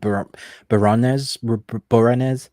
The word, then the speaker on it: Boreanaz: The original with David Boreanaz.